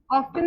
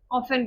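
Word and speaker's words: often: Never ठीक है obtain ऑफन मतलब ऑफेन बोलते हैं इसको। ऑफन नहीं प्रोनाउंस करते हैं।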